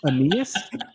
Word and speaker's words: Aeneas: Aeneas All right.